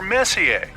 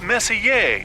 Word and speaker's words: Messier: Well, young lady, the M stands for Messier. Pronounced Messier, not Messier, as in, is your room messier than mine?